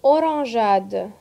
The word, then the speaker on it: orangeade: Le GE se prononce J parfois, son doux, devant la lettre A, comme une orangeade.